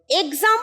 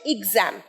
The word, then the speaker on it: exam: এক্সাম শব্দটা উচ্চারণ ভুল, উচ্চারণ হচ্ছে এক্সাম।